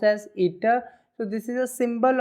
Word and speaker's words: eta: of the symbol is ETA okay this is pronounced as ETA so this is a symbol of efficiency clear